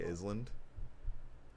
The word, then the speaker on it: island: of salmon salmon yeah do you say island no the s is silent why are we pronouncing